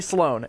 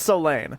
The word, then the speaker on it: Sloan: hard Sloan they say Sloan it's so Lan you don't know why